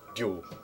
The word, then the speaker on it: Ryu: Because it's not pronounced Ryu, and it's not pronounced Ryu. It's pronounced Dew. Apparently. Pretty much with the Japanese.